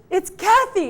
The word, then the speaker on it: Kathie: Yeah, and we have cakes by, I keep calling you Katie, but it's actually Kathy. She's like, it's Kathy, it's not Katie.